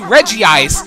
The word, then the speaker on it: Regice: bothered me cuz cuz it's clearly supposed to be Reggie ice with regirock n registeel but the way it's spelled it just looks like regice I don't know it's